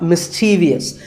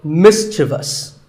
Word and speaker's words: mischievous: Like in the word mischievous. This is not mischievous. There is no I after the V. The last syllable is just thus. So mischievous.